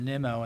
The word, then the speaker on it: Nimmo: So I get the feeling that like some of the parts they didn't get for my house, Mr. Nimmo, and I saw that's how it's correctly pronounced, Mr.